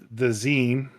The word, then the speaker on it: zine: And the zine, if I pronounce it correctly, Yeah, the zine. it's just like magazine Yeah, without the maga in front of it. So I just read it as Zine because like Vine.